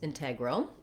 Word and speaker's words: integral: correct ways to pronounce integral the first way is what i've said so far and that way has first syllable stress so my in is